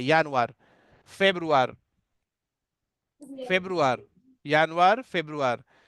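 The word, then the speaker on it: Februar: यानुआर, यानुआर means जनवरी, pronunciation different रहता है, यानुआर। फेब्रुआर, फेब्रुआर, यानुआर, फेब्रुआर।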